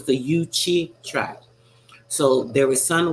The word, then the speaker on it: Yuchi: So it's Yuchi, just like chi. I should have known that with the chi at the end of it, right? You know I'm off this morning. So it's the Yuchi tribe.